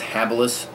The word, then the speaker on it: Habilis: myself i was mispronouncing it before but it's pronounced habilis bush tools and this is the habilis trap